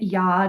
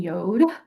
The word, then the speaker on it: Yod: By the way, I kind of go back and forth between pronouncing it Yod and Yode.